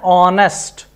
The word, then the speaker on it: honest: Look here, you should say an R, an honest, an hotel, an historical monument. Did you get it? But look at the beauty of English. See, all these words begin with H, but H is silent.